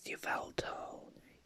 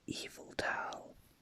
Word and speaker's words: Yveltal: Now, I always pronounce Yveltal, because I thought that's how you pronounce it. I thought you pronounced the Y, but apparently you pronounce it Eviltal. I mean, because its name apparently originates from evil.